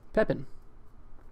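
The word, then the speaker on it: Pépin: Pepin.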